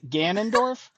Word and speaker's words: Ganondorf: Gan Ganondorf. I think Ganond I think Ganondorf is how you pronounce if I remember correctly.